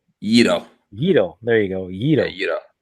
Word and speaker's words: gyro: It's not actually gyro. It's a Yito. Yito.